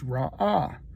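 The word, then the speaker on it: רָאָה: It's called It's pronounced there's ra'ah.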